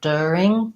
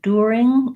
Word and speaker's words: during: do either of those I think I do more like dirt during I do the sound that's in like push and could der or I just go right to my my vowel are during during during the day yeah I do sometimes hear people say during that sounds a little bit more British maybe East Coast English maybe Canadian English as well in the dictionary I